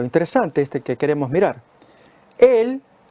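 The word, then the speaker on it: אל: En el libro de Números, capítulo 23, versículo 8, aparece Él y significa Dios. Recordemos que ese es cómo se pronuncia y se lee en hebreo la palabra Dios.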